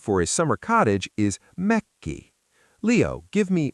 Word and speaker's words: Mökki: The word for a summer cottage is Mökki. Leo, give me Mökki. Remember the double 'K' hiccup! Leo: MÖK-ki.